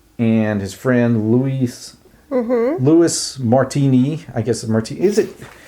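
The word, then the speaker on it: Martinee: his friend Louis Louis Martini I guess Martin is it look he actually he has a little little Accent on the end of his name so it should be Martin right Martine yeah okay so Martin a was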